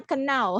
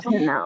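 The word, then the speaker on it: know: Tahu itu tulisannya kenau. Ya kan kenau. Apa sih kenau? Now. Dibacanya now. No.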